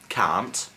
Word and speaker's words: cant: Well, 100 is cant. No, not can't, but cant. And if you want to say 101, it's cant ag-un.